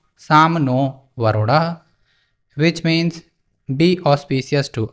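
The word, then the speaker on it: शं नो वरुणः: The emblem of the Indian Navy contains a motto, Sam no Varunah, pronounced Sam no Varunah, which means be auspicious to us, O Varun.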